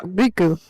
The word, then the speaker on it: Riku: Riku. My sister got me saying Rico because she doesn't know how to pronounce her U's, but my cat Riku, right?